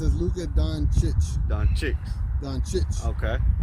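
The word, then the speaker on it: Dončić: the proper way to say it is Luca Don chit Don chit don chi there you go you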